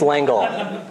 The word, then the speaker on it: L'Engle: it's long left its Lingle okay well that's how Americans pronounce it anyway which makes it the right way to pronounce it I'm sure Madeleine L'Engle